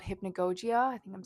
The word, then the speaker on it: hypnagogia: Here's another one: when you're falling asleep, there's this thing called hypnagogia. I think I'm saying that right. This is editing Amber here. It's hypnagogia.